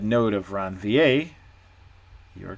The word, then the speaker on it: Ranvier: of it looks like ranveer it's pronounced around va presumably it's french node of ranvi okay